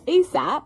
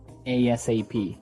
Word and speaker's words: ASAP: So it's an acronym, and you can say it like ASAP or ASAP.